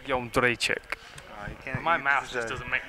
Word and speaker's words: Jędrzejczyk: Can you give us the pronunciation of UFC strawweight champion? Joanna Jędrzejczyk. It's Jędrzejczyk. Jędrzejczyk.